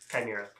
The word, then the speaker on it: chimera: I misspoke, but it is in fact chimera. That's how it's pronounced. It is. It's just not phonetic.